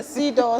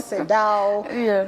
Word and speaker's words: CEDAW: So, as you mentioned, Sido, many people pronounce it differently depending on which jurisdiction. I won't stop pronouncing it how you're saying it. Sido. So you can say Sido, Sedao.